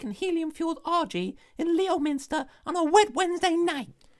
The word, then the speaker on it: Leominster: having a static and helium fueled rg in leominster on a wet wednesday night it's actually pronounced limpster i know what it's called i got stuck